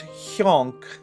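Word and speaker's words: Hjonk: When it's like that, the J is pronounced like a Y. So it's hyonk.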